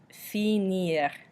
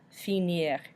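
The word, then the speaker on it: finir: find same thing however if it's an IR verb we can still pronounce the R at the end so this means to finish and it's pronounced senior senior again we've got those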